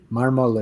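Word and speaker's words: mármol: is his last name marmol is marble in Spanish spell m m m r m o with the accent on the first part um nice yeah the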